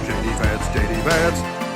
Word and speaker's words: J.D. Vance: Vance, that's my name, J.D. Vance, that's how you say it, J.D.